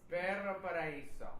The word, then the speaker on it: Perro Paraiso: Perro Paraiso.